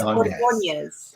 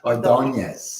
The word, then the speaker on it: Ordonez: and her name, is it pronounced Ordonez? You got to put the enya, you got to put the Spanish flavor on it.